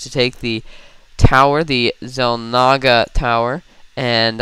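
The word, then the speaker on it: Xel'Naga: take the tower, the Zel Naga tower. And I don't know why is that pronounced as a zed? It's an X.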